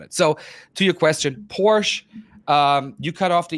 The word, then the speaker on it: Porsche: Fant pora and it's Porsche Americans just cut or British Speaking people english- speaking people they just cut the off they don't they don't pronounce the e at the end but well the American